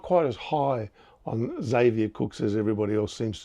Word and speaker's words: Xavier: But in the last game against Brisbane, I thought, okay, now I know how to pronounce his first name. It's Xavier, because he saved Sydney with his performance.